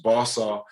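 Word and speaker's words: Boisseau: from oh funny story my last name is it's french b-o-i-s-s-e-a-u all my life i've dealt with people um destroying my name um where i'm from in richmond is commonly pronounced balsa so in fact my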